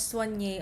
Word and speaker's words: Soigne: It's pronounced as Soigne. A lot of people have been asking me, how do you pronounce it? Ganyan, ganyan. It's Soigne. So yeah, follow it on Instagram.